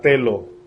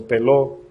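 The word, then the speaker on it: θέλω: Esa palabra en el griego es la palabra telo, o teló, T-H-E-L-O, con acento en la O.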